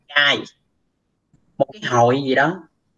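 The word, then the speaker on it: 会: Cái chữ hỏi á, nó là động từ, nó mới đọc là ai, nhưng mà khi mà nó đứng sau như thế này thì nó là danh từ, tức là danh từ mà nó đọc là kai, một cái hội gì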